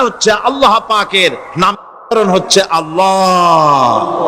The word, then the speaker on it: আল্লাহ: আল্লাহ পাকের উচ্চারণটা হচ্ছে, আল্লাহ পাকের নামকরণ হচ্ছে আল্লাহ। মুখটা একটু গোল হয়ে যাবে, বলেন আল্লাহ আল্লাহ আল্লাহ।